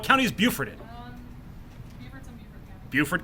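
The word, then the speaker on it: Beaufort: is Buford in umy Buford County how do you spell it b e a u f f o r t b e a u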